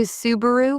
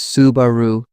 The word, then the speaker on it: Subaru: I've heard people say Subaru with stress on the second syllable. Japanese pronunciation is Subaru, evenly spread.